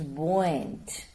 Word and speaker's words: buoyant: jovial full of like buoyant is buoyant it's pronounced as buoyant and freedom of girlhood